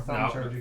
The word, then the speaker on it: thaumaturgy: I do not know how to pronounce this properly. Prestidigitation or thaumaturgy?